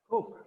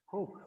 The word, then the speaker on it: Coke: So pronunciation in this case is oak instead of o, right? So Peter, you were drinking what? Coke. Again? Coke.